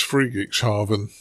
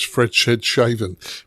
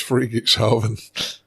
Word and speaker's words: Friedrichshafen: Yeah, it's Friedrichshafen, or as Colin refers to it as Fredshedhaven, but it's Friedrichshafen. The problem is Colin gave me that pronunciation, and that's what sticks in my head, and I know it's wrong.